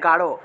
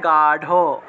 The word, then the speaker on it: গাঢ়: তারপরে গাঢ়, বাংলায় বললে গাঢ়, কিন্তু সংস্কৃতে বললে গাঢ়, গাঢ়।